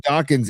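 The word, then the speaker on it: Dokken: Dawkins rhymes with rocking and I'll never forget it. I like Dockan.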